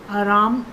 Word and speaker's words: रामः: इसका उच्चारण जो है वो ह के समान होता है और उच्चारण स्थान होता है बच्चों इसका कंठ। उच्चारण स्थान होता है कंठ। ह के समान इसका उच्चारण है। जैसे ह को बोलते हैं ऐसे इसका उच्चारण होता है। उदाहरण के लिए दी समझें तो मान लो मैंने लिखा राम, राम के आगे लगाया विसर्ग। अब हम इसको बोलेंगे रामः, रामः।